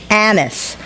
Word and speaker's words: Annis: as I could get, you said my name, Annis, and you got it right the first time, unlike most people who make it rhyme with peace or release.